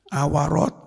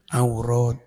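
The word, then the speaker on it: عورات: tidak bayaa tapi Baa Nah awarat bukan awarat huruf Ilat Mas tapi aurat jadi salah kalau kamu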